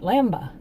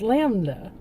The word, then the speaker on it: Lambda: Kept pronouncing it Lamba. But it's Lambda. Oh, hopefully I got that right this time.